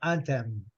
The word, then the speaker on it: anthem: É o hino do Brasil, o hino americano, anthem, anthem. Né? Fechando a boca no final, né? Boca fechada, anthem.